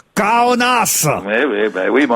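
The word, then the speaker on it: Kaunas: puisque c'est au stade ça s'écrit K a u n a S mais c'est vrai que ça se prononce donc kaonas ouis ouis ben oui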